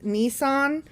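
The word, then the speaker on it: Nisan: we do yeah okay so the first month is nissan n-i-s-a-n i'm assuming that's how it's pronounced like the car um it's the month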